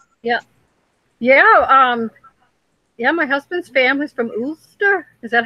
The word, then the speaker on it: Ulster: My husband's family's from Ulster. Is that how you say it? Ulster.